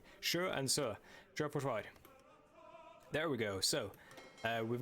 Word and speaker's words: Sjøforsvar: Sjøforsvar.